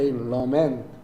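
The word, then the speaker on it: lament: 하마트면을 레먼트라고 읽을 뻔했어요. 사실이 A의 파닉스가 애거든요. 그래서 단어를 못 들었으면 그냥 레먼트라고 있는게 맞아요. 근데 얘 네이버를 찾아봤더 러멘트 엑센트가 뒤에 있어.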